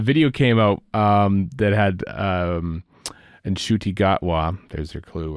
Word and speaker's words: Ncuti: And then his mom said, you idiot son of mine, it's Ncuti. And so he learned at age 26 how to actually say his name. So I guess the rest of us get a bit of a pass, but it's Ncuti, Gatwa, Ncuti. Yeah.